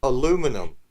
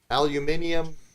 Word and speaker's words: aluminium: Aluminum. Aluminium, cobalt.